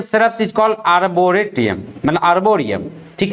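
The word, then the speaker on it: arboretum: नाउ A botanical garden exclusively growing trees and shrubs is called आर्बोरेटियम, मतलब आर्बोरियम, ठीक है। Spelling अलग होता है, बोला जाता है आर्बोरियम, लेकिन लिखाता है आर्बोरेटियम, ठीक है, आर्बोरेटम।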